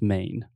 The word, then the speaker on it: Maine: in e in english we don't pronounce the e the e is silent so just main maine exactly i don't